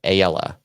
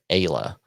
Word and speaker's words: Ayla: See you next week with Ayala. It's actually pronounced Ayla, but it reads like Ayala.